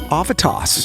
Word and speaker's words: Avitas: Sativa spelled backwards, by the way. And you can also pronounce it Avitas.